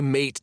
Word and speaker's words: mate: I don't want any mate, Dad. I pronounce it wrong because I'm irritated with him. Zach, you know it's mate.